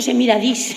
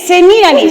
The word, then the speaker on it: Semíramis: El director ha dicho bueno, ha dicho Semiradis, que yo no sé dónde lo has contratado. A ese mejor no hacerle caso. Es Semiramis, con tilde en la I. ¿En qué I? En la primera.